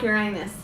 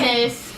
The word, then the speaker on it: Uranus: I like Uranus.